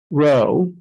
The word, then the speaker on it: rho: based on the fact that the Greek letter rho which is spelled rho sounds like low so we're just